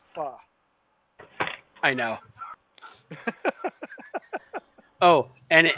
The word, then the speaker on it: pho: It's a faux restaurant.